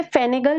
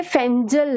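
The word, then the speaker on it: Fengal: Saudi Arabian language में इसे फेनेगल भी नहीं बोला जाता है. फेनेगल तो हम इसे इंग्लिश में प्रोनाउंस कर रहे हैं, बेसिकली ये फेंजल है.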